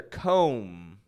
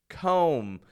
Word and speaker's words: comb: there uh let's take a look at another comb comb comb we can change to combing now remember a